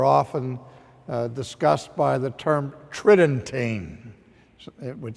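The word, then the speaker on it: Tridentine: that council are often discussed by the term Tritton tain it would sounds like it would be pronounced tri dentine but the normal pronunciation is Tritton ting and so when we look to the conciliar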